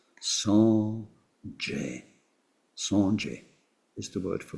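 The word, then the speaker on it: སངས་རྒྱས: In Tibetan, it had to become 2 syllables. Sanje.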